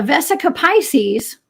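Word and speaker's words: vesica piscis: I don't use okay a vesica Pisces which rhymes with Jessica by the way I guess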